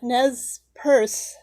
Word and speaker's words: Nez Perce: He is of the Nez Perce tribe. That's a French word. It means nose piercing. So I think it's pronounced Perce, Nez Perce.